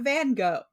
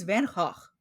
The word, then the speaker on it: Van Gogh: Here's a brief aside about name pronunciations. It's not Van Gogh. It's Van Gogh.